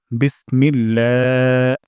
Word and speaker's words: বিসমিল্লাহ: প্রথম শব্দটি হলো বিসমিল্লাহ এখানে বিস সিন থেকে আমরা বাতাস বের করব বিস তারপর মিল্লা ইলাতে আল্লাহ শব্দ এখানে আমরা এক আলিফ তান দিব এক আলিফ তান লম্বা করে দিব বিসমিল্লাহ তারপর হিয়ার মে এখানে